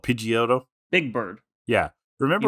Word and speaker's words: Pidgeot: so Pidgeotto, when it got Pidgeot, thank you.